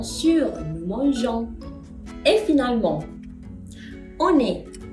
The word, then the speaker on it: on est: Et finalement, on est. On est. On est. Oui, liaison. Bravo.